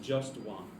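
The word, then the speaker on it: Jastoan: t o a n so it's pronounced just one yes pronounced just one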